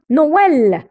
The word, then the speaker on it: Noël: Le quatrième E avec tréma permet de prononcer une lettre dans un mot. Alors, Père Noël, non, Noël. Alors, voilà comment on prononce les 4 syllabes.